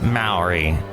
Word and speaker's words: Maori: street called Maori yes Maori it sounds cool because it rhymes with the bowery and that looks really